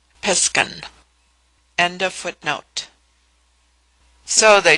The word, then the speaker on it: Piskan: Pronounced Piskan.